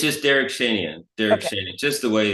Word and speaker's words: Derak Shanian: How do you How do you pronounce it? It's just Derek Shenyan.